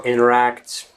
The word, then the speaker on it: interact: definitely advisable that you pronounce the words internet, interview, interact and similar words without t sound, basically you just omit the letter t.